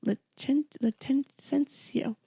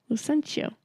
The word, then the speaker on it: Lucentio: Licentio. No. God, Licentio. Hold on, I'm not looking at your notes. I need to look at them to remember the names. Licentio. Lucentio.